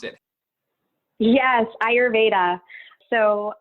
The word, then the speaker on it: Ayurveda: that is and and also how to properly pronounce it yes ayurveda so ayurveda is commonly known as India's holistic medical system